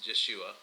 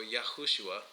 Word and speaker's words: Yeshua: Okay, his name was not Jesus, it was Yeshua or Yahushua, right? If we want to pronounce it correctly.